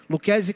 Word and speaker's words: Luchesi: Fábio Luques. Luquese com ch. Depois anota esse nome e procura quem é esse cara. É Luchesi que se escreve.